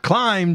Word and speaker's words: Klim: Had multiple people like, "It's pronounced Climb, Jason."